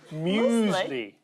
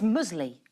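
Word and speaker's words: muesli: musle or moley and it's musle no it's musley musley musley you're the only one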